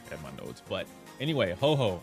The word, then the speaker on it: Ho-Oh: But anyway, Ho-Oh, I call her Ho-Oh because Pokemon. I know you guys are pronouncing it Ho-Ho. Ho-Ho.